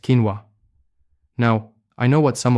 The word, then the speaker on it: quinoa: The grain I'm talking about is quinoa, pronounced quinoa.